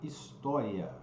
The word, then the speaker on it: história: né por exemplo né quando você pronuncia alá a palavra história na verdade a pronúncia nessa palavra deveria ser dessas dessa forma aqui ó ó his tória esse lá vai lá para cima e um ditongo não de tom crescente ó então história né